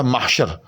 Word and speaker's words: محشر: ہے وہ محبوب ہے۔ اسی طرح سے یہ لفظ جو ہے محشر، اصل میں تو یہ لفظ جو ہے وہ محشر ہے مفعل کے وزن پر، لیکن جیسے ہم جو